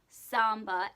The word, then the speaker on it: samba: I started doing samba, which is like the Brazilian dance, so not zumba, which everyone keeps correcting my pronunciation. Samba, S-A-M-B-A, samba, and I am terrible at it.